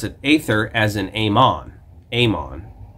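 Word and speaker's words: Aemon: Amon. A-E-M-O-N. Is not pronounced Emon.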